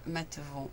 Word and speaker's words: Mathevon: plaisir d'accueillir aujourd'hui Philippe matevon n'est-ce pas c'est c'est votre nom j'ai bien prononcé votre nom de famille très bien parfait ok ok donc Philippe